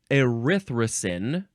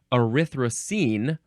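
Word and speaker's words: erythrin: learn about these hormones next is arrin uh or arrine or arthra how is that pronounced differently I don't think it's pronounced differently at all but you can add an e at the end if you like arthin or arrine this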